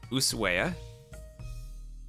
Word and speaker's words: Ushuaia: The H in Ushuaia is silent, coming from a native speaker. Okay. So, Ushuaia.